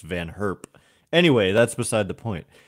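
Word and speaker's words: Van Gurp: on like team Netherlands I always thought it was Van gerp but it's I think pronounced van herp anyway that's beside the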